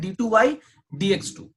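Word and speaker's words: d²y/dx²: Okay, इसे बिल्कुल भी ऐसा प्रोनाउंस नहीं किया जाता है D square Y बाई डी x square, ऐसे प्रोनाउंस नहीं करते हैं। इसे पढ़ते हैं डी टू वाई डी एक्स टू, डी टू वाई डी एक्स टू। ठीक है, ये प्रोनाउंसिएशन का सही तरीका।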